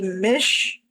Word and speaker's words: Mish: Um actually think my website will probably should say that but um I usually prefer to be called Mish rhymes with fish.